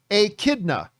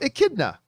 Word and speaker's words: echidna: And by the way, everybody in the live chat is trying to tell me how to pronounce it. Echidna. There you go. Echidna.